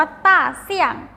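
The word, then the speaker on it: 大象: ภาษา จีน นะ คะ จะ ออก เสียง ว่า ต้าร์ เสียง ต้า เสี้ยง อ้า รัก เรา แจ้ง ตาม เรา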